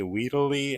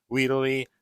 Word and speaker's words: Wheeldell Lee: including Mr docket say weedy I don't think that's how you say it though I think you're supposed to pronounce the L it's weell Le I don't know it's